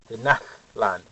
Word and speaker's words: Tenochtitlan: Tenochtitlan. It's kind of a breathiness if you hear it pronounced correctly.